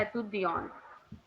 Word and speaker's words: étudiant: So same way masculine में T silent हो गया और feminine में E साइलेंट हो गया. So exactly. तो वो हमारा क्या बन गया? एतुदियन.